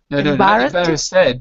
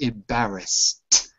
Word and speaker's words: embarrassed: feel embarrassed embarrassed embarrassed embarrass said but embarrassed with the T embarrassed embarrassed good I